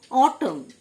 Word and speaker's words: autumn: অটম, AUTUMN, N silent, last N silent, অটম, মানে শরৎকাল।